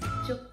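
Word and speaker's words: 粥: How do you say congee? Right? There's many kinds of congee, but you always say congee the same. So congee is juk, congee.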